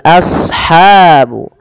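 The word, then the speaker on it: أصحاب: Kemudian pada lafal ashabu asha sad shadnya tebalkan as jangan ashabu jangan sin tapi dia huruf shad.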